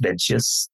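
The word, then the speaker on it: Mengzi: understanding of the text so mza is the Chinese pronunciation that's been known in English as menus and so I sometimes we use menas sometimes we'll use mza it's better to use mza but I will sometimes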